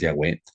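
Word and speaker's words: Yahweh: más creo que lo la pronunciación más correcta es yahwe que nosotros le leamos Jehová pero pero lo importante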